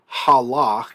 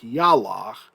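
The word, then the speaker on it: הלך: So this is halach, even though it looks like yalach.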